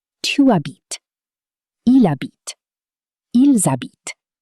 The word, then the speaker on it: habitent: Ils habitent. They sound almost identical. Why? Because the endings E, ES, ENT are silent.